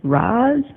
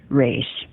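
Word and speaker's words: Ra's: Danny was asked was is it pronounced Roz or race and Danny said I meant it to be pronounced race so there you go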